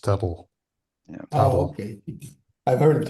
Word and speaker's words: TTL: TTL TTL is TTL is the actual formal name and it's it's pronounced Turtle.